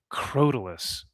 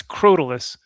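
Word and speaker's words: Crotalus: Croalus. Cro. No, it's Yeah, it's Croalus. I was pronouncing it Croal. I was like, but that's the thing.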